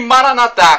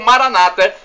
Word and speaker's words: Maranatha: o seu bem e Maranatha como dizemos nós católicos ou Maranata como dizem nossos irmãos separados os evangélicos ou protestantes não importa a pronúncia porque somos todos irmãos